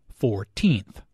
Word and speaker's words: fourteenth: first second and third the stress is on the second syllable 14th compare this with 40th